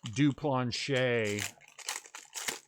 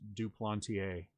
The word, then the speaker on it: Duplantier: Somebody told me that I was saying it wrong, that it's pronounced Duplantier.